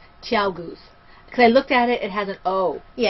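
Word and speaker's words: ChiaoGoo: Yeah, it is Chow Goose. Chow Goose. We just say Chai Goose because it's T. It's T. Okay? We just purposely mispronounce it and we don't care.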